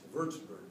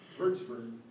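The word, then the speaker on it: Würzburg: bsur W urts wburg the W's in German are pronounced like V verburg you know verburg which was a beautiful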